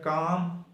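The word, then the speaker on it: calm: Antonym पढ़ेंगे, एक है काम और एक है डेडन। आपको एक साइलेंट होने का असूल बता दें, ये काम में L साइलेंट है।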